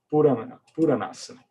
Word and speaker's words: Puranasana: P, U, curto, o Ra, A longo. Então tem um acento aqui. Na, com Na de Prana, Yama, Asana. É isso aqui. Puranasana.